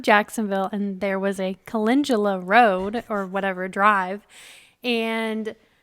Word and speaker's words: calendula: flower is how do we say it correctly calendula calendula for all of those sophisticated flower Farmers so